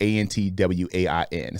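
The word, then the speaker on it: Antwain: very unique um but Antoine is a little bit different Antoine and my name is spelled weird my name is spelled ant w a i n so it's spelled an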